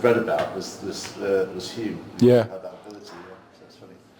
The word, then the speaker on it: Hume: had that ability funny I never know how to pronounce it cuz I think it's spelled Hume but think you say home and then I've heard other people I so I I I chop and change myself home yeah I think I